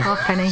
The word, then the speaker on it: halfpenny: I think my favourite thing about halfpennies is how you pronounce it. Yeah. Like, see all these letters, forget them. Forget all of them. Yeah. Halfpenny.